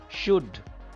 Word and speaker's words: should: Should. It is not should. Should. L is silent here.